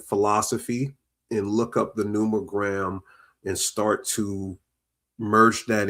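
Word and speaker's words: numogram: Or is it It is Yeah, the n u m o g r a m is numerogram.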